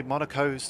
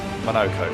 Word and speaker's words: Monoco: To play Monaco's tutorial. Yes. Monoco, sorry, so you pronounce that.